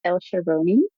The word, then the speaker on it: El-Sharouni: yourself and you can say your last name um the right way. Thank you. Okay, so my name is El Sharon. Still sounds weird to pronounce it in English but anyway I just